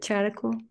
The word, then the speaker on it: Chariclo: Cherical. Chariclo. Some people pronounce it slightly differently, but Chariclo.